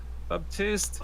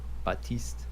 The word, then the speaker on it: Baptiste: There is no P at all, right?